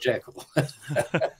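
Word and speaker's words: Jekyll: know J Island um JL is incidentally the original pronunciation I know everybody calls it jaal but um uh you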